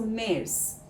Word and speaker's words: März: The letter A with a umlaut in März is pronounced like the E in the English word bed. Hence, like longer. Then, German Z is pronounced S. So, März sounds like Mets.